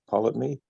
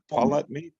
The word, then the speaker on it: Ptolemy: Well- I think something happened back in Aristotle's day with what is it, Ptolemy?